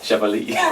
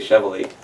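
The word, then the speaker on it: Chevalley: My typical English mispronunciation of this is, now you've said it right, I can't unthink it. I think I usually say Chevalier, or Chevalier. I don't know, it's wrong.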